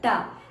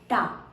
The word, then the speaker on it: ಟ: T, ta. Observe the tongue tip has to touch up. Ta.